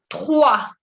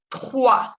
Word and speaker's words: trois: Tres, on dit trois. Trois. Y tampoco se pronuncia la S, ¿ok? La S muda. Trois. Recuerden que la OI siempre se pronuncia wa.